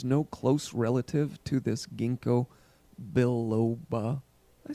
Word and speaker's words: ginkgo biloba: what they're actually finding, is that there is no close relative to this ginkgo biloba.